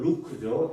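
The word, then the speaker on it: Luke: 누가는 영어 발음으로 루크죠.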